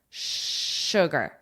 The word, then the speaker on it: sugar: Space sugar. This is spelled with an S, the word sugar, but is pronounced with an S H.